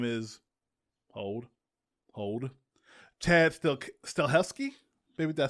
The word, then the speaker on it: Stahelski: The director's name is hold Chad Stahelski. Maybe did I say it right? Stahelski? Stahelski, yeah.